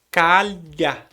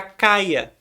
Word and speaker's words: calha: Mas o fonema correto é calha. E tem alguns lugares que o pessoal não pronuncia esse LH como lh. Eles pronunciam como um i. E aí fica caia.